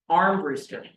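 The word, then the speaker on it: Armbruster: My maiden name was Arm Brewster. Okay, some people might have trouble doing that. When there's a proper name that's difficult to pronounce, I will slash that out for my speakers so they intentionally say arm rooster.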